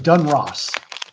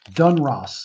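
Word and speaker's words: Donruss: That's right, Dun Ross. Dun Ross.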